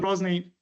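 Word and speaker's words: Грозный: And though a bit later u Ivan Grosny um I try I I try to pronounce his name in the Russian way because terrible is not really the a good translation for Gnney.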